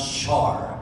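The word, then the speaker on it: Shahar: name of ben char it's written s-h-a-h-a-r but it is pronounced shar ben sharp and this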